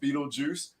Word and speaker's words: Beetlejuice: for everybody knowing and when you read it it is pronounced Beetlejuice there is no reason